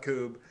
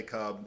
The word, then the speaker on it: Kubb: if you want to speak like a Swedish person in Sweden you call it Coop and if you want to speak the the translation of it you can say cub and I don't care